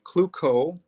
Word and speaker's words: Klukow: name without blood treatment either way is fine cuco is is how almost everyone in my family would want to say it and clue cow i'll